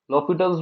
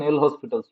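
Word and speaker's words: L'Hôpital: So L'Hopital's rule, or in Indian pronunciation, L Hospital's rule.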